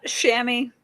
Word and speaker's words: Shami: How do how do you pronounce your name? Uh Shami.